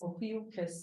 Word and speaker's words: Ophiuchus: Ophiuchus. Ophiuchus, yeah.